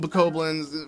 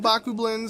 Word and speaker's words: Bokoblin: And yes, I'm going to call them Bokoblins, for those who watched all my other Zelda Let's Plays. I feel like I always mispronounced them. I grew up calling them Bakublins, so yeah, same thing with Cuccos.